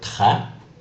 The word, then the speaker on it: très: The accent grave, also known as the low accent, changes the sound to an A sound. For example, the word très.